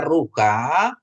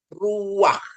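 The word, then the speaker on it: רוּחַ: gitu ya begitu ya tapi ini tidak dibaca rukha Tapi bacanya Ruak ya Ruak artinya Ro Jadi ini namanya stolen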